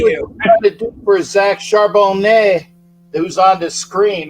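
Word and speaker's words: Charbonnet: uh um there's a you don't pronounce the t in French because well they're pretentious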